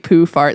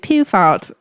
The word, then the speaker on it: Poohfart: It's spelled POOHFART, poofart, like poofart. That's how I say it.